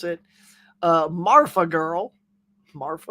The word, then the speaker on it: Marfa: Marfa? Looks like they want to say Mafia, but they don't. Marfa.